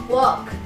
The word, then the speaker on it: walk: sama seperti wood yaitu l-nya tidak dibaca seperti sop walk hop Oke jadi tuh ya